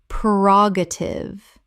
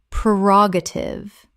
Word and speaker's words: prerogative: ubiquitous ubiquitous Word 256 prerogative Common mispronunciation prerogative Correct pronunciation prerogative Four syllables with the stress on the second. The first syllable is pre, not per.